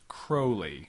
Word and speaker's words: Crowley: two that AC alist Crowley's name is pronounced Crowley all right I'm going